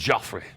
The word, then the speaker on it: Joffrey: Yeah, and if they don't pronounce it right, if they say Jeff, it's correct them. It's Joffrey. It's Joffrey.